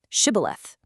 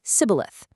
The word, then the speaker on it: shibboleth: use a simple password, shibboleth. You see, the Ephraimites had a dialect where they couldn't pronounce that sh sound, so they'd say sibboleth.